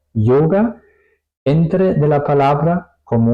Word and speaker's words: Yoga: Aquí suena un poco más como una J, yoga, yoga, ¿ok?